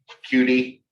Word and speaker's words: Qt: PyQt, we do pronounce that Qt as cutie.